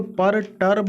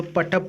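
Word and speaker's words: perturb: देखिए, इसको पर टर्ब नहीं पढ़ेंगे, चूंकि आर यहाँ पर साइलेंट होता है, तो पटब पढ़ेंगे।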